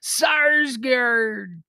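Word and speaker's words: Sarsgaard: pirate name he's got a name that you have to pronounce like a pirate his name is Peter sarsgard born on this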